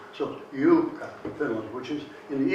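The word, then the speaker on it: Juuka: And that accent is always on the first syllable, without exception. So Jukka, Finland, which is in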